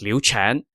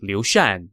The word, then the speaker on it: Liu Shan: Leon's name incorrectly as Lu chan the character for his given name has two pronunciations Chan or Shan and in this case it should be Lucian not Lu chan my